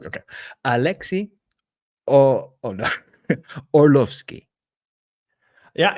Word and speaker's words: Orlovskiy: Alexi oh oh no orlovski yeah it's it's pretty close uh it's it's very close uh originally the r is pronounced so it's Alexi Arlovski but all right there